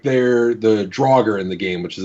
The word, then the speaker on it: Draugr: So, like, they're the Draugr in the game, which is a D&D reference. They initially misspoke and called it the Durger. And so that's canonically how it's pronounced in the game, is Durger.